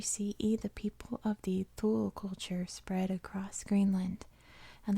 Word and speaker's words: Thule: I'm assuming that's pronounced like the Icelandic, the like between a TH and a T sound in English, Thule culture.